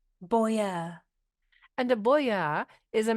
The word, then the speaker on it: boyar: our tutor word of the Week Philadelphia it is spelled b o y a r Boer and a Boer is a member of the